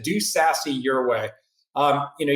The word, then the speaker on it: SASE: five you said do sassy your way um you know you should almost spell that s-a-s-s-y you know be sassy but that there's no